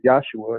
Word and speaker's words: Yahshua: And for those that out there may not be familiar with the term of Yahshua, it's the proper way of saying Jesus by using the Hebrew pronunciation. In the Hebrew alphabet, there are no J's, no D's present in the Hebrew alphabet.